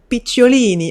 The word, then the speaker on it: Picciolini: You are Christian Picciolini.